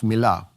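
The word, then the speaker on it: מלא: And it's spelled mem lamed aleph, milah.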